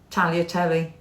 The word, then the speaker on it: tagliatelle: Tagliatelle. Tagliatelle. It's tagliatelle, isn't it? Tagliatelle. I thought it's tagliatelle. No, tagliatelle. I thought it's tagliatelle. Is that a silent G then, is it?